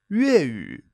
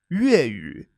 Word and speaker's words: 粤语: Cantonese is 粤语, 粤语.